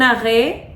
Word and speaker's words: arrêt: bonito, que es el arrête. Literalmente así se escribe arrête, pero en francés se pronuncia diferente, se pronuncia arrêt.